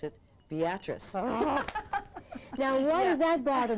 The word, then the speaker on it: Beatrice: Listen, we have a city in Nebraska that is Beatrice, and we pronounce it Beatrice.